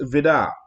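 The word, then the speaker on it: Vide: And so it was signed by Hans Vidar. And that's how you pronounce it. It's spelled V-I-D-E, but it's Hans Vidar.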